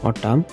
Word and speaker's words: autumn: AUTUMN, N2 silent, উচ্চাৰণটো হ'ব অটাম, অৰ্থাৎ শৰৎকাল।